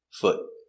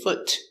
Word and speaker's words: foot: F uh f t foot it's a stop T so we don't say foot we put our tongue up and stop foot foot one foot remember the